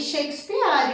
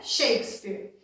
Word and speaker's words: Shakespeare: Lembrando da pronúncia, Shakespeare. Lembra da regra principal do inglês? Escreve de um jeito e fala de outro? Nada de Shakespeare, né? Shakespeare.